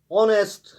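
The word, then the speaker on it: honest: ऑनेस्ट, इसमें H silent रहता है, ईमानदार जिसे हम कहते हैं।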